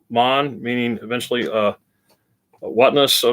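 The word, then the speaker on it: מן: manna is not a noun they most as most my assumed actually comes from the hebrew uh word man pronounced mon meaning eventually uh whatnos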